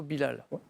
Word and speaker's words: Bilal: voussolument VO sauf que le le votre on le prononce plutôt Bilel oui alors que le chanteur Hassani en général les médias disent plutôt Bilal voilà chanteur à la